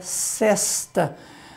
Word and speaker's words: cesta: E nós temos ainda por último, Léo, a palavra que até muitos a pronunciam fechado, mas essa palavra, o normal dela é a pronúncia aberta, que é cesta.